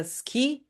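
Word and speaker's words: 好き: A o fica um pouco mudo. Ski ski, sabe? Pronúncia só s, s ki assim, sabe? Ski ski. E não fala sui sui é mais natural deixar o mudo ski.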